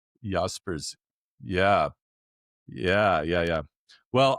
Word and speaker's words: Jaspers: spelled with a J like the park not too far from us in Edmonton. Carl Yaspers German Yaspers.